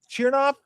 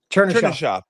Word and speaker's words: Chernyshov: Yeah, Let me ask you about, is it Chernoff? Is that how you pronounce? Chernyshov. Yeah. Chernyshov. Okay.